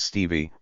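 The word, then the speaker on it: Stephe: 22nd 1857 he was called Steph pronounced Stevie by his family he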